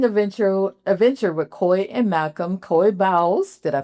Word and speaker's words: Coy Bowles: Coy Bowles, did I pronounce his name correctly? Coy Bowles.